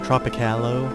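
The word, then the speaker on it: Tropicallo: there and wouldn't talk or a tropic hallo as his proper pronunciation yeah and then she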